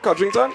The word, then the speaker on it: Codrington: Anna Marella ah codrington did I did I pronounce that right kington yes Anna Marella kington well done Mr